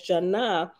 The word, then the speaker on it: Janah: By spelling and pronouncing the Hebrew word Jonah as Janah, which is according to ancient vibration, the Nazarenes were declaring that she is the dove of Jah.